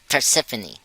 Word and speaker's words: Persephone: in um okay here it is it's um Persephone that's her name is that how you pronounce it yeah for Symphony yeah I just